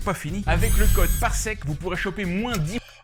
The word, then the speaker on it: parsec: Ah, il a dit parsecs. Parsec. He didn't pronounce the S. par Tatooine. Et en plus, tenez-vous bien, parce que c'est pas fini. Avec le code PARSEC, vous pourrez... Parsec. The S is silent.